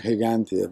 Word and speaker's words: Gigantia: well they you gigantia in English with the G in Spanish it's more like heantia but okay that's how